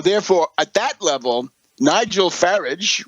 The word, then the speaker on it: Farage: The story is that Cameron was so afraid of the UK Independence Party with Farage, rhymes with garbage, that he let the